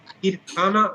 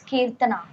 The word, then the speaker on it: Kirthana: Kirthana, am I pronouncing it correctly? Kirthana, your name? Sir, it's Kirtana.